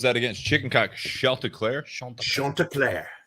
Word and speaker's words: Chanticleer: Chanticleer. It's Chanticleer.